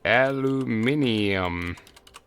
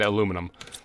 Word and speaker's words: aluminium: And this one will be aluminium, which I believe is the correct way to say it, the English way. And this thing is going to demand aluminum.